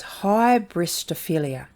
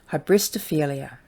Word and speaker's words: hybristophilia: is a big one i'm gonna spell it out and i'll sound it out so it's hybristophilia so h-y-b-r-i-s-t-o-p-h-i-l-i-a hybristophelia which is the sexual